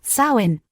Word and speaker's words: Samhain: Harvest festivals like Samhain, pronounced Samhain, marked the end of the agricultural year for the Celts.